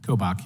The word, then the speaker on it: Kobach: the chairman for your kindness uh attorney general kobach am I getting that close to pronunciation sir kobach yeah thank you so very much um I've